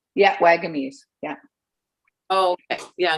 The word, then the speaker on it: Wagamese: Richard Wagamese. Yeah, Wagamese.